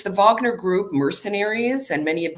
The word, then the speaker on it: Wagner: pronounced it's uh the Wagner group some people call it the Wagner group but that's the Americanized version of the Americanized but